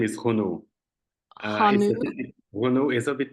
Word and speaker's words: Renaud: It's usually English people pronounce it my name like that. Renaud, also Renaud. Renaud because it's AUD, and it's Yeah. really difficult for them.